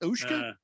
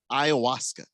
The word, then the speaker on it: ayahuasca: Ushka? Ayahuasca.